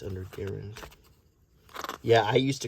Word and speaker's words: Garand: is an M1 Garand, and before you correct me, that is the pronunciation. It is not Garand, it is Garand. That was at the request of the inventor. That was how his name was pronounced, was like Aaron.